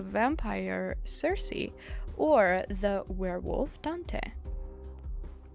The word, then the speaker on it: Dante: playing as the vampire Cersei or the werewolf Dante. Dante, I pronounced correctly, right?